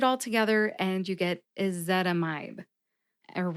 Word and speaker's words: ezetimibe: together and you get is that a mibe and remember emphasize zet see if you can hear all the syllables and that one with the emphasis when I say it slowly is is zetamide how did I crack